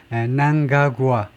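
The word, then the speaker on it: Mnangagwa: 무가의 후계자 근데이 사람이 카드를 말성만은 대통령 에머슨에 난가구아 엠을 발음하지 않고 그 난가구아라고 발음한다네요.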